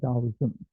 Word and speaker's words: Taoism: It's spelled with a T, but you pronounce it Taoism.